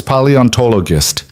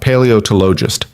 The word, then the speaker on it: paleontologist: Lena reading in different voices while Mila giggled and corrected her pronunciation. "It's paleontologist," Mila said carefully. "Not paleoist."